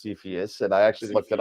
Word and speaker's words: Cepheus: So what's the C in Cepheus? It's actually pronounced Cepheus, and I actually looked it up.